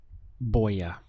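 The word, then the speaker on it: voy a: using I'm going to which in Spanish is Boya you can see it's two words boy ah but you hear it contracted as Boya Boya so the sound is as though we had a b here Boya but of course the spelling in Spanish is with a V so this Boya means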